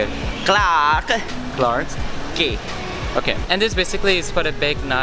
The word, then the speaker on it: Clarke Quay: how do you how do you say it clark clark gay okay and this basically is for a big